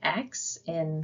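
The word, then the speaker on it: ξῖ: The next is xi, and you can pronounce that as like the KS sound or an X in fox, xi.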